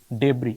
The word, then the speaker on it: debris: Dead debris বলবো, dead debris, এ silent থাকে, dead debris.